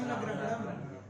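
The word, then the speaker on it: न ग्रहणम्: न ग्रहणम। ना को गुरु करो। ये संयोग पर में है ना, गा रा का संयोगे परे रहते गुरु होता है।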